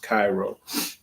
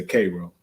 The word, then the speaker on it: Cairo: It's actually pronounced Cairo, but we say Cairo.